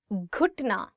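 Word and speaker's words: گھٹنا: Ghutna. So it is gaf and you're adding it with he and it becomes g, g.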